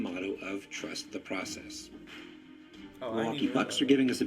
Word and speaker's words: Milwaukee: back of it though the origin of the city name milwaukee actually is pronounced miliwa which is algonquin for the good land thank you very much